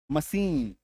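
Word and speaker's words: machine: तालव्यस मशीन ए आई टी सी H kitchen बीच में है।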